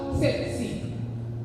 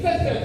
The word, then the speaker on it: tsetse: The English dictionary pronounced it as sepsi. The African in me is too sassy, so I'm going to say tsetse fly. That's exactly what it is, a tsetse fly.